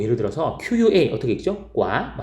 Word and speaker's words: qua: 과, 싹 해서 과, 맵과, 싱과, ngon과 할 때 거기는 A, 그 UA가 왔는데 아라고 발음이 나는데요.